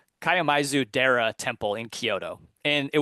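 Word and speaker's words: Kiyomizu-dera: Um so I visited this temple and I'm going to mispronounce it obviously but uh it's Kaio Kaioisu. K I Yo M I Zu. Kaiamizu Dera temple in Kyoto and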